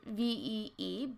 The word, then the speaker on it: ViE: critics so there it's called V and it's pronounced V but it is spelled VI I and they